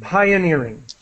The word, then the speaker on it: pioneering: a battle and ble Pi pioneering with an i sound pioneering okay B yeah pioneering